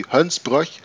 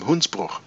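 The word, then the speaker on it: Hoensbroech: RG yeah that's a so that must be hunts ploy but I think that is I think his name is more Dutch inspired and therefore I always pronounce him hoons BA I don't know why but that's just given into my stomach from the very first time anyway count wounds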